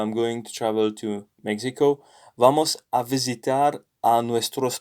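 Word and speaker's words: México: nx examine examine so an exception is mexico where the x here is like a spanish j it sounds like a an h in in english so in fact another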